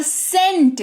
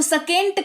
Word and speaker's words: scent: ठीक है, तो सी के ठीक पहले एस लगा हुआ है तो सी भी साइलेंट हो जाएगा। उदाहरण के तौर पर सेंट, इसको सकेंट कभी पढ़ा है, SCENT, जबकि सी का उच्चारण तो हमारा स होता है, राइट, लेकिन ससेंट तो नहीं पढ़ा हमने इसको पढ़ा सेंट।